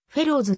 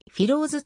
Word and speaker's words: フィローズ: 血縁関係はない英語ではフェローズと発音するはヒンディー語の発音に従いフィローズと評価するフィローズ